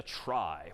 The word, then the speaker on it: trie: most part and that's known as a try which is somehow short for retrieval even though that's pronounced somewhat differently but try just means